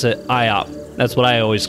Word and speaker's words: Iop: was a class called It's pronounced Yap but it's spelled IOP so most English people pronounce it IOP that's what I always